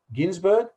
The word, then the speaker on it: Ginsberg: not say that formally Allen Ginsberg proper pronounced it as gins burg not Ginsburg formerly Allen Ginsberg said